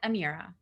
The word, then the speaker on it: Amira: So how is your name pronounced, please? It's Amira.